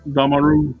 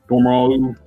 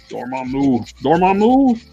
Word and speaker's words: Dormammu: It's the same head that came with the what's it, Damaru Build-A-Figure. Dormammu. Very how to pronounce it. Dormammu.